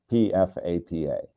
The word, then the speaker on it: PFAPA: P F Apa and some people pronounce it FAPA, other people pronounce it PFAPA, but whichever way you